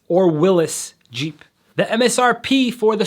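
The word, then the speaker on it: Willys: It's likely that it went down on possibly the Willis. Now, yes, I said Willis because that's how you pronounce it.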